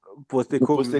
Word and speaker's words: Postecoglou: Angie, how do you pronounce his last name? Postecoglou.